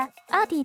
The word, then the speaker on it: ARTTI: アーティ T テプロですメガー名の読み方アーティでいいのいいと思うよ YouTube のアーティのチャンネルでそう発音してたからあと担当の